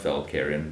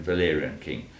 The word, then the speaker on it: Valerian: It's a bit early in the morning for me to start pronouncing Valerian King, not Valkyrian, Valerian King.